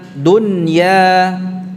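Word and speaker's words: دنيا: Nunnya dibaca dengan idhar, jelas. Dun, ya. Artinya membaca dengan jelas ini dipisah antara pengucapan nunnya dengan huruf setelahnya. Jadi tidak diidghamkan. Dunya ini dah. Seperti kita mengucapkan dunia. Jadi dunya tidak. Dunya. Ya. Dunya. Ya-nya murni, tidak ada gunnahnya ya.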